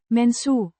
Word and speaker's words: mensen: It's an adjective describing the mensen. means people or persons, pronounced men-suh. with a short E sound in men and a soft s sound followed by a short u sound.